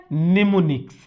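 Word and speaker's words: mnemonics: समझ गए और दूसरा इसको बोलते हैं एम साइलेंट है निमोनिक्स निमोनिक्स का मतलब यह हुआ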